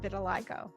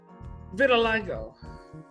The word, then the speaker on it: vitiligo: our audience what is vitiligo vitiligo first the pronunciation of it was hard we had to learn um the doctor said think of little i go and change that to victor like go and so we had